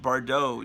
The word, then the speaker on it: Bardot: It's just like Bridget Bardot. You just don't pronounce the T.